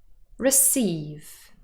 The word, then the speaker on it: receive: on the second syllable receive receive yes that's correct the word is stressed on the second syllable receive true or false